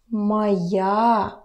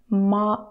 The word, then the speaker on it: моя: Моя книга. Pay attention to your pronunciation. Don't forget about the vowel reduction. Ma, not моя.